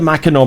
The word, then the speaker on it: Mackinac: mackinac bridge and not the mackinaw bridge while pronounced the mackinaw bridge we were left wondering the same thing